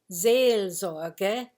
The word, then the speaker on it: Seelsorge: week of my message it's a word you maybe don't even know how to pronounce it's zelde which is a german word it starts with an s but you say it like a z zee also and it means literally